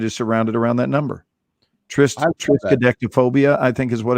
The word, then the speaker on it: triskaidekaphobia: Oh, so it's triskaidekaphobia. Yeah, I think that's the correct pronunciation.